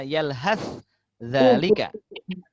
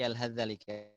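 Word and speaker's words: يلهث ذلك: Jadi maka kalau ada perjumpaan, contoh di sini ada yalhath dzalika, maka akan dibaca, cara bacanya adalah langsung masuk ke zal. Sa macam tak ada.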